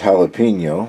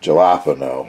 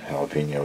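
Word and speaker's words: jalapeño: uh that had uh jalapeno peppers in it and the the lady pronounced it galapo that's stuck in my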